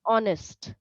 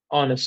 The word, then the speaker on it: honest: so the pronunciation is honest honest okay the H is not pronounced got it honest okay